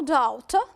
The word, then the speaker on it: doubt: There is no doubt, and we need doubt needs a D between the U and the T.